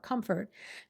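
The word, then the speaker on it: Comfrt: the Lola blankets, including that hoodie brand, Comfort, CO MFR T. No syllable in the second part, Comfort.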